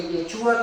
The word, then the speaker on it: Yeshua: fíjense, incluso ahí abajo ya lo puse, vean, Yeshua es en hebreo, en griego se pronuncia Yeshua, ya lo vimos cómo está escrito